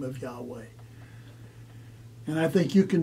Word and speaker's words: Yahweh: Some say it's Yehovah. Others say it's Yahweh. My own understanding is the weight of evidence leads me to believe it is Yahweh.